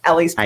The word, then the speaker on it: Ele's Place: Ellie's Place. I am. And it's ELES. People sometimes wonder how it's spelled.